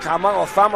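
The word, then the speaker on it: Cama: getting up the back, Thama, I should say. This is Malakai Thama. Spelt with a C, pronounced with a TH, which is the Norman, the Fijian lingo.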